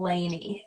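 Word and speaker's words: Lani: you can understand it you pronounce my name Laney l-a-n-i thank you so much for correcting it I actually I think we've gone over this before Lainey okay all right just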